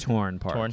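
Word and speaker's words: Tourne Park: You also took me to how do you pronounce it? Is it Torn Park? Torn Park.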